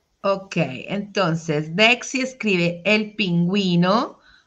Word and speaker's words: pingüino: Entonces, la respuesta correcta de este animal es el pingüino, ¿ok? Recordemos que tiene su diéresis, entonces el masculino pingüino.